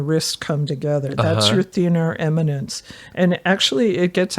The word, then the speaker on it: thenar: So I look for atrophy of the thenar eminence.